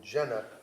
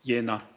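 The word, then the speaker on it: Jena: Kapka who was the managing director of Aera Medicals A V A T E R A medical in Jenna J E N A Germany. Yeah, it's pronounced Yenna.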